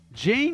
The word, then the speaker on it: Jean: Jane is pronounced like John in French.